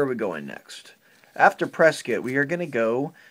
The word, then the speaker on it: Prescott: prescott arizona that's correct matt and yes it's pronounced prescott good job there how did you know well